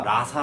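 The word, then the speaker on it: raza: 그 과정에서 나온 용어가 라사 라는 단어에 요 라 4 스페인어 르 단어로 하면 ra 제트 a 라고 하는데 발음을 라사 라고 하죠 이게 이제 영어로 하면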